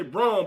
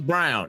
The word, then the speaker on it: Braun: I want to say Braun, but I keep saying Brown. It's Brown. It's Brown. It's Brown. Brown is playing a hell of a game. It's spel it spelled like Braraw, but it's pronounced Brown.